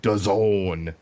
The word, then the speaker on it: DAZN: versus Solomon on DAZN. Jesse, what does DAZN rhyme with? Calzone, sir.